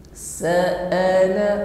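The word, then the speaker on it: سأل: Sa'ala, ya, perlu saya ingatkan di sini bahwasanya sa'a menggunakan huruf hamzah, okay? Jahar sifatnya syiddah, maka tidak boleh diucapkan dengan lemah, ya. Terkadang kita membacanya lalai jadi ngambang, okay?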